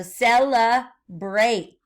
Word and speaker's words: celebrate: We've been working on this sound all week when A makes the long A sound. So celebrate. A-T, and the silent E is at the end. Remember that? So now the A says its name. It's a long A.